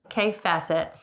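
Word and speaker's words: Kaffe Fassett: So it's kaif facet.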